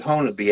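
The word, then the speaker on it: Honobia: If anybody's interested, um, look up on Sasquatch Chronicles, um, episode 11, Siege of Honabi. It's spelled Henobia. They call it Honabe out here.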